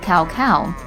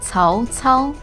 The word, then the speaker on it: Cao Cao: Many folks pronounce it Cao Cao. But since when was this ancient Chinese warlord double-dairy? If you say Cao Cao, then you're saying it wrong. Now, the actual way to say this is Cao Cao, Cao Cao, Cao Cao.